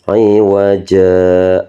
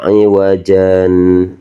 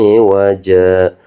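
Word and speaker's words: عوجا: Jadi wajah, nggak boleh wajan, tapi wajah qaima ya, di sini qaima.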